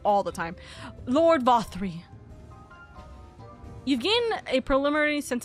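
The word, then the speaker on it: Vauthry: I've said his name wrong all the time. Lord Vothri.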